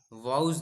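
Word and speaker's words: Woese: लिखा हुआ है ये कार्ल कार्ल वसे भी कहते हैं उसको वाउज वसे ऐसा कुछ है उच्चारण के अंदर तो कार्ल वसेचे या कार्ल वाउज नाम के एक वैज्ञानिक ने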